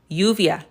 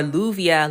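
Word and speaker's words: lluvia: That's the name of that letter and it's going to make the y sound.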